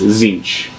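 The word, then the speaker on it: Tzeentch: It's not a word that is familiar to you, but you hear it pronounced very clearly as Zinch.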